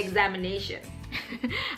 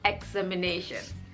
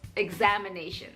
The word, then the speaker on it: examination: correct English pronunciation is examination the stress is on the second syllable examination I've mentioned in